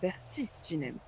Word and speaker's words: Vertiginem: Dites-vous que Vertiginem se doit d'avoir une certaine accentuation sur une syllabe. Je crois que c'est vert. Nous parlons ici de la deuxième Vertiginem. syllabe, Vertiginem. Vertiginem.